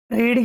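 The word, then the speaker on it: read: यहाँ पे ही रीड की मतलब सेकंड फॉर्म में रीड ही होती है, तो इफ ही रीड, लेकिन प्रोनाउंस रेड करते हैं इसका।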